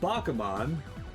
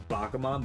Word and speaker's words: Bakemon: I like how it's, we collectively know it as Bakumon, but it's spelled Bakemon.